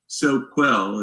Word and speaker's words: Soquel: SoCal right yeah so well not Southern California Soquel is how it's spelled s o qu oh okay we call